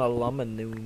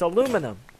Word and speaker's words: aluminium: How British people say it.